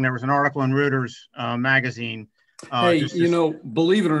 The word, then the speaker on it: Reuters: It's pronounced Reuters, by the way.